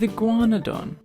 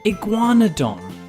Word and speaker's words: Iguanodon: With Iguanadon. We hoped you enjoyed learning about the ferocious Baryonyx. To learn about more dinosaurs, now it's time for Iguanadon.